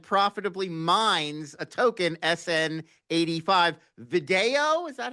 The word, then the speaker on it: Vidaio: Vidaio, is that how am I saying it right, Mark? Vidaio? Vidaio, yeah, Vidaio. Vidaio. So Oh, yeah, Vidaio, I of don't know how to pronounce course.